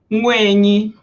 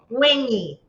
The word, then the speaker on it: Nwaenyi: I should have you pronounce the actual book name because I tried. Say it one more time for me. Nwaenyi. Nwaenyi. Nwaenyi.